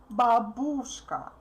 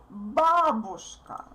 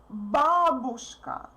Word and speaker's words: бабушка: Therefore, you need to pronounce U as short as possible.